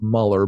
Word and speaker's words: Mueller: heroes his name's George Mueller he's actually pronounced Muller but spelled Mueller and he's a German